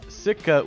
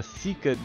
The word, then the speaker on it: sika: go this next one I am constantly mispronouncing as Sika when it's actually a seika deer so we're getting another